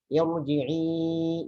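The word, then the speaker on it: ارجعي: Ya, jadi kalau baca Al-Fajr yang bagian akhir misalnya, irji'i, jangan irji'i. Kenapa dibaca irji'i? Kan itu sebelumnya kasroh. Oh, salah pemahamannya. Seharusnya bukan dari sebelumnya, tapi dari asal katanya.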